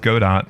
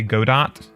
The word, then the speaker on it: Godot: yeah Godot I think I don't think it's pronounced Godot I think it's I'm pretty sure it's good though because it's like French probably I don't know you get